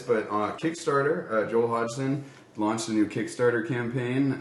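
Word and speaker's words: Hodgson: to pronounce this I I always say like hogden hod Hodson hog I think it's Hodson yeah but uh go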